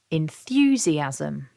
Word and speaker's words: enthusiasm: can see that the first purple Mark there shows us that we stress syllable two and that the word is divided into five syllables so we stress syllable to repeat after me enthusiasm syllable one is quite